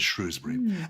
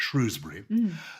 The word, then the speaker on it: Shrewsbury: The people who have children at the boys' public school, which may now take girls, call it Shrewsbury. So there is a kind of class thing in there. Shrewsbury or Shrewsbury. The people in the street call it Shrewsbury without the R.